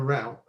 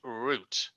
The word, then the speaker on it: route: other words and it it is not pronounced root it is call rout that's that's how I